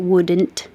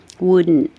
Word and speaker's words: wouldn't: sound the same because you don't pronounce the final t and wouldn't shouldn't couldn't didn't hadn't